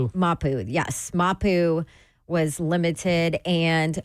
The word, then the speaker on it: Mapu: Mapu.